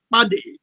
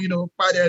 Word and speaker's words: Kpadeh: Well, so from the Loma belt, it's actually pronounced as Kpadeh. Okay, Kpadeh. All right. So in grammar, you pronounce it as Kpadeh.